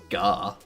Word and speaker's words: Garkin: Gar or Khan? Because if I was to pronounce your name how I think it should be pronounced, it would be Garkin. As in gherkin. But Gar. Gherkin, Garkin, gherkin.